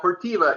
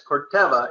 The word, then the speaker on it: Corteva: I'm gonna correct Jerry it's not cortiva it's corta it's a long e but uh I always